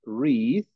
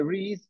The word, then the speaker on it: read: re en presente pronunciamos read pero en pasado lo pronunciamos se escribe igual pero se pronuncia diferente en pasado y pasado participio Esa es la excepción tienen que acordarse de eso siempre presente read pasado read read